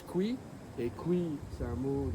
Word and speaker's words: KWI: KWI des initiales, ça se prononce Kui, et Kui c'est un